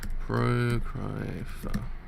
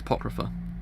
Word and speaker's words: Apocrypha: It's Apocrypha. Apocrypha is how you pronounce that word correctly, I think. If Google says it's correct, it's correct.